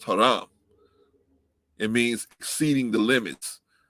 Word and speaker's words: haram: but it's actually pronounced haram right in in arabic it's pronounced haram it means exceeding the